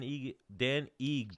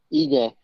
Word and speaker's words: Ige: So Kevin Aguilar, if Kevin Aguilar doesn't accept that fight, when are we seeing Dan Ige? How do you pronounce it again? Give me one more time. Ige.